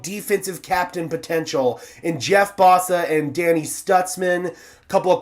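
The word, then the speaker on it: Mbow: It's It says it's Embo right here. That's what it looks like, but it's pronounced Bo.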